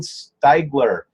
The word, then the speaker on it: Steiger: I'm here with Steiger.